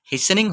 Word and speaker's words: hastening: यहाँ HASTENING, टी का pronunciation नहीं होता है, इसलिए हेसनिंग होगा।